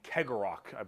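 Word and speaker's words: Cegorach: by their god named karok I is how you pronounce his name he is the Laughing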